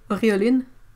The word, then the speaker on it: auréoline: Well, like lac de Garance rose, auréoline, et ceruleum.